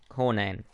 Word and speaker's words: Conan: a corn and barbarian barbarian i can never pronounce that word for corn and anyway not corn in her brain conan and you know it is what it is